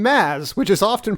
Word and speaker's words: Mads: And also, can I just say, points for the correct pronunciation of the name Maz, which is often pronounced as Mads, but I know from like Mr.